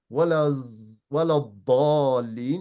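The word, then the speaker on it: ولا الضالين: So a lot of people, for example, they'll pronounce this as when you say Waladhalin, they will say Walazalin. They will say that, for example, right? And that's not right.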